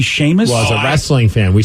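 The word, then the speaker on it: Seamus: a person you see how they spell Sheamus it's s-e-a-m-u-s and I would never get that to be Sheamus was a wrestling fan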